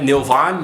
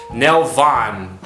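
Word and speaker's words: Nelvaan: Obi-Wan and Anakin end up on the planet Nilvan, you know, where they have the Nilvanian, how do I pronounce it? Nilvanian warriors. How do I pronounce it? Nelvan.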